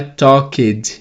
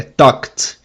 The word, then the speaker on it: talked: No passado ele não é talked e nem talked, é talked. Talked. O ED tem som de T.